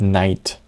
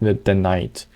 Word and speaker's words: knight: You write a word completely different from how you read it. Like night, for example. And I don't mean the night like in not daytime, I mean the night.